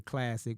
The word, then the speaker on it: Klazik: so that's when I changed my name to Classic but I spell it k-l-a-z-i-k because I was Laz at